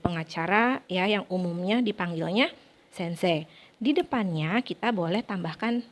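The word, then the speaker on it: 先生: maupun dalam huruf latinnya Sensei dibacanya bukan Sensei tetapi Sensei huruf c yang terakhirnya itu dibaca panjang jadi huruf e-nya tidak usah diucapkan sense huruf x ketemu huruf e dalam sebuah kata hurufnya dihilangkan ditambahkan menjadi panjang ya kata panjang jadi sense Nah untuk Sensei ini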